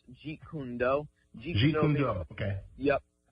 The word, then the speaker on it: Jeet Kune Do: Yeah, it's actually pronounced Jeet Kune Do.